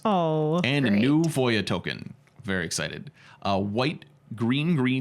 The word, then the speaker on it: Voja: And I asked for a Voya token, and I pronounced it Voja. And he goes, no, Voya. Oh, and I wow, go, okay. And I go, what makes it Voya?